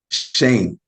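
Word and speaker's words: Schoen: with your general manager Joe how do you pronounce his last name Shane Shane Joe Shane Howard is the Giants general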